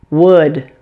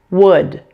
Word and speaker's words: would: as well number 9 would this word also has a silent letter it has a silent L in addition the öyou